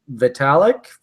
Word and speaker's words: Vitalik: I always get his name wrong. Vitalik, is that his name?